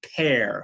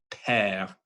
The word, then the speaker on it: père: People make the mistake of thinking that's like a père, mère kind of sound. But if you really listen to the pure French pronunciation, it's p, e, e, r, père, m, mère.